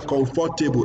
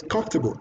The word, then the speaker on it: comfortable: You know, some people call that word comfortable. It's what? Comfortable. The four is not pronounced as you hear. It's comfortable. Are you comfortable? Yes, I am comfortable. So from today, don't say comfortable. You say comfortable.